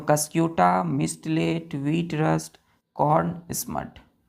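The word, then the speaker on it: mistletoe: मिस्ट late पढ़ते हैं इसको टी ओ यहां साइलेंट हो जाता है ओ को हम नहीं पढ़ेंगे क्या पढ़ेंगे मिस्ट लेट कस क्यूटा तीसरा वीट रस्ट वीट रस्ट ठीक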